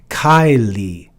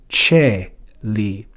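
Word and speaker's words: caeli: Here in classical Latin, this word would be read as Kylie. But in classical Latin, because the diphthong AE is pronounced E, that softens the C to Celi.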